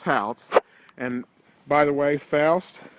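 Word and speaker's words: Pfoutz: This has been the Adam Foust house, and by the way, Foust is spelled P-F-O-U-T-Z. This has been the Adam Foust house here on Gettysburg Battlefield Facebook.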